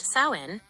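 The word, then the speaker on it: Samhain: Halloween originated from the ancient Celtic festival of Sam Hayne, pronounced sin, over 2,000 years ago in what is now Ireland, the UK, and Northern France.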